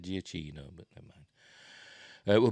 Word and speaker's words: Giacchino: right oscar-winning up composer Michael giacchino is that I think that's how I pronounced it I've heard people take giacino but I've always said giacchino but never mind it